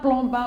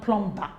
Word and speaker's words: plumber: into the sure sound so the B here is silent if we add clear